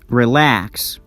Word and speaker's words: relax: Relax, produce, include, begin, become, forget, enjoy, enjoy, receive, receive. We stress the second syllable.